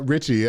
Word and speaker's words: RXCHY: right okay so like I said you guys Richie so I am saying it right I'm not